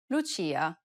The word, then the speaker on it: Lucia: Lucia.